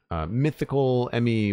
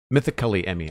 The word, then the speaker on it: Mythically Emmy: Mythical Emmy with two L's. Mythically Emmy. I'm sorry. I've been mispronouncing that this entire stream. Mythically Emmy. It's a lot of syllables with the wrong emphasis.